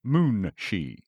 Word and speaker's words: moonshi: Thus, munchi is spelled moonshi as that gives the exact sound.